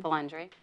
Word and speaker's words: Vilandre: is and Dana yes how do you say your last name again valandre bandre is it okay did I say that right yeah well the way I like it said okay well welcome